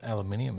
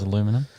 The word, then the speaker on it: aluminium: Aluminum. Yeah, that's how I say it. It's aluminium, isn't it? That's how you say it. I say it as aluminum.